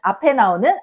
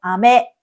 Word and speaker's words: あめ: Rain 雨あめ Candy 飴あめ Dans あめ , qui signifie « pluie », le [a] qui précède est prononcé plus haut, et dans あめ , qui signifie «